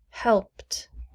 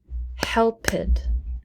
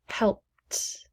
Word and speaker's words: helped: regular past tense pronunciation do not add an extra syllable in the past tense unless the base verb ends with a d like needed or t